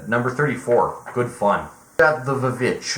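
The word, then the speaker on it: The VVitch: good fun got the vich i know it's technically pronounced the witch but i'm i'm calling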